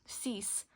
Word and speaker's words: six: And then six is um cease. But then those two it's in English we write it out the same way six. But you pronounce the X of course as an S.